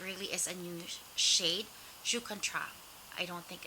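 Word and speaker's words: Joues Contraste: is a new shade jucontra i don't think it's i okay it's french i believe a jew contra like you don't pronounce the s this is 320 roujan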